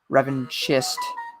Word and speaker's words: revanchist: Revanchist is pronounced more like revenge, but with a French accent.